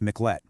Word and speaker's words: Miclette: It's a story of the Miklet family and that's pronounced Miklet and their incredible journey of survival.